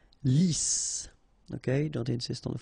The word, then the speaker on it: lisse: Lisse, double S here, so it's really a strong S. Lisse. Okay, don't insist on the final E. Lisse.